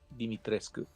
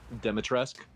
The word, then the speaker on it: Dimitrescu: They even say it wrong in the game. They say it wrong in two versions of the game and right in all the others. The two versions of the game that they say it wrong in are the American version and the Japanese version, which is super weird that those are the two they get wrong.